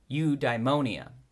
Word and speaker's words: eudaimonia: for Aristotle is something called eudaimonia sometimes pronounced eudaimonia which it's difficult to